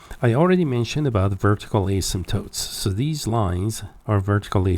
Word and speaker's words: asymptote: we mean by vertical asymptote now the word asymptote the P here is silent that means you do not pronounce it okay so it's a